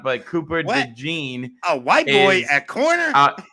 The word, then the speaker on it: DeJean: All right, Cooper DeJean. I think that's how you pronounce it. DeJean.